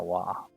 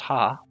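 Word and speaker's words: は: Wa, instead of being pronounced ha, you pronounce this as wa.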